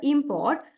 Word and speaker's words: import: For example, import. In here, primary stress on the word primary stress on the first syllable, and next one is secondary stress.